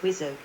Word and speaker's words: WSO: The back seat is equipped for a Weapons Systems Officer, WSO, pronounced WISO, to work the air-to-ground avionics via multiple screens.